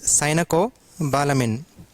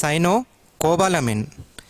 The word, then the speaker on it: cyanocobalamin: 80% of the times the students will pronounce this as sinocobalamin it is not sinocobalamin it is sinocobalamin Cino you have to pronounce then cobbalamine not sinocobalamin so don't break it here break it here sinocobalamine